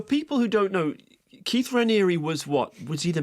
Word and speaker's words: Raniere: I think it's Raniere Raniere. Raniere. I think it's Raniere, isn't it? But it looks like it should be Raniere, a French name.